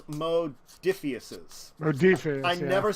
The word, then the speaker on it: Modiphius: But I do want to talk about Morpheus? No, it's Modiphius's.